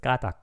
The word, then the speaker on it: 까닭: Nightmare to pronounce. Usually just people usually say this as just kata, kata.